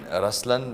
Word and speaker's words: Ruslaan: yeah so even in raslan when you say raslan also means the LI it's the attitude of am but the right pronunciation is rlan okay there is so